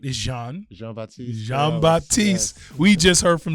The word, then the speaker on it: Jean-Baptiste: Jean-Baptiste.